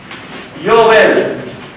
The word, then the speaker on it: Yobel: se tiene que tratar, porque jubileo es una palabra hebrea que es Yobel. También se escribe con B larga. Yobel, B largo, B corta.